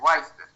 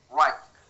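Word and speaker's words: Wrisberg: El nervio intermediario de Whisper, como se escribe, pero en realidad es Wisper, nervio intermediario intermediario de Whisper.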